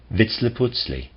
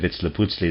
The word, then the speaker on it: Vitzliputzli: The name given to this being may be expressed by a combination of syllables that approximate Vitzliputzli.